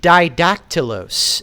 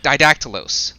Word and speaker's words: Didactylos: It's didactylos, as in didactylos. Two dactyls, as in two fingers, because he's flipping the world off.